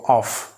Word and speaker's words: off: অফ the school অফ actually এটা যদি single F থাকে তাহলে ব এর মত উচ্চারণ করব আর ডবল এফ থাকলে এটা এফ ফ এর মত উচ্চারণ করব অফ অফ অফ the school